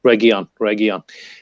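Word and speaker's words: Reguilón: at the moment, Reguilon, I keep messing up his Region, yeah. pronunciation, but Reguilon.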